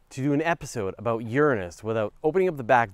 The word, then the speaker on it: Uranus: Strictly speaking, it's pronounced Uranus, is the pronunciation.